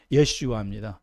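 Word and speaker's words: ישוע: 예수님의 그 히브리식 발음은 예수의 히브리식 발음은 예슈아 여호수아 예슈아 여호수아 모세의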